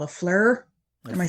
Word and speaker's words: FLIR: uh temperature control what is that called a fleur am i saying it right flir yeah i